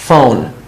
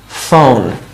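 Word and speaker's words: phone: ফোন, সো দেখেন পিএইচ থাকলে এফ এর মতো উচ্চারণ হয়, পিএইচ থাকলে এফ এর মতো উচ্চারণ হয়, ফোন, ফোন।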